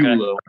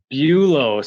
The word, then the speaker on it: Buelow: Buelow. Buelow. So why don't you ever correct us when we say Buelow?